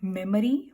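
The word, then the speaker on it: memory: Next one यू are having मेमोरी. मेमोरी कहेंगे हम, इसमें O की साउंड नहीं आती है. O आपका साइलेंट साउंड की तरह से क्रिएट होता है. सो you will say मेमोरी. मेमरी.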